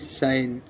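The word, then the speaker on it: sign: জি এন এটি নেট এস আই এন জি সাইন এস আই এন জি সাইন মানে চিহ্ন মানে কোন কিছু সাইন লিখা টিকা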